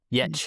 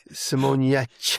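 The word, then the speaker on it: Giertz: Yetch. Simone Getz video of... This is with the yeah. Yetch. Getcha. The G is non-existent. Yetz. I mean, it's there, but it's Yetzy. Simone Yetza? Yetch. Simone Yetch.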